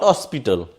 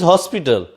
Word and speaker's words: hospital: Here, if you pronounce this word, not hospital, it is hospital. That's why we will use here A, not an. I think both examples and rules, hope you will understand.